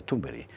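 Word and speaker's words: Thunberg: Quiero decir que que personalidades psicopáticas como la de Greta Tumbery, no se que Carlos Esteban nos enseñó que se pronuncia Tumbery, bueno, que Grza Tumberi nos explica sin esto, es decir, es que ha vuelto a la gente local.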